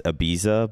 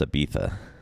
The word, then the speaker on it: Ibiza: where the B it's Ibiza but it's pronounced Ibiza like if you're Spanish it's pronounced that way I think so oh